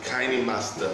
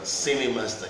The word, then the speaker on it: Kinemaster: You know, we call it Kinemaster, like a cinema, Kine. You know, you call it Cine, C-I-N-E. It's also pronounced K-I-N-E. So Kinemaster, Cinemaster, Kinemaster.